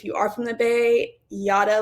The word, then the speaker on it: Jara: So, like I said, my name is Yada. It is spelled Jara, but it's pronounced Yada, like yada, yada, yada.